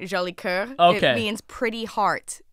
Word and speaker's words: Jolicoeur: Okay, I knew no matter how I said it, I was like, I didn't hit it with that French on it. You know what I'm saying? You gotta pronounce that. Ah, so Jolicoeur.